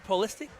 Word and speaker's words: Pulisic: Christian Pulisic.